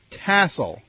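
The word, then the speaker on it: TSOL: Yes, it's T-S-O-L. Tassel. No, well, I think you just said it correctly.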